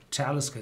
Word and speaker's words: Talisker: And that is one of the very few distilleries pronounced on the first syllable, Talisker.